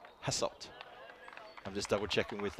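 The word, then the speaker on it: Hasselt: Sorry, I said hasslet. No, hasslet. Got to get that pronunciation correct.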